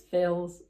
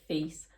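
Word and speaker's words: Fils: I think it's Phils. I don't think you'd pronounce it like that, so it might be like Fees.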